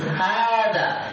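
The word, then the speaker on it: هذا: Hada. Kalau baca hada panjang hanya tidak. Ada tulisan panjang di sini? Tidak ada. Tapi kenapa dibaca panjang? Karena tadi kaidah.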